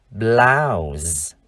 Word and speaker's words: blouse: Hay danh từ áo sơ mi nữ, chúng ta đọc là blouse. Âm cuối là âm z.